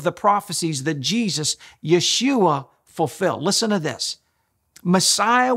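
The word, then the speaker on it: ישוע: past thousands of years in Hebrew Jesus name is pronounced Yeshua he fulfilled at least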